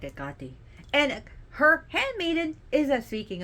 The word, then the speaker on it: Hecate: of which, is Hecate, who we call Hecate here, or Hecate, but is Hecate in Greek. Listen to how the Greeks pronounce the name. They're gonna say Hecate. You'll be like, what? Huh? Who's Hecate? She's Hecate.